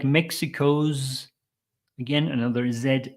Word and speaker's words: Mexico's: sound here challenges like Mexico's again another Zed sound so these are s letters but with a z sound Mexico zongo Mexico's ongoing